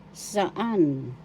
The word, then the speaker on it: saan: kailan kailan in English saan saan saan first syllable sa second syllable the accent is in the second syllable saan saan saan in